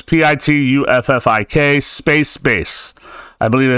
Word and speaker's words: Pituffik: Oh my God, you don't know how to pronounce that. No, I don't. It's Pituffik, space base.